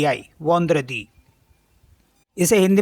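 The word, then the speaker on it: vendredi: होता है स्टार्टिंग का उसी में जो है स्पेलिंग है इसकी वी ई एन डी आर ई डी आई वंद्र दी इसे हिंदी में बोलते हैं शुक्रवार और शुक्र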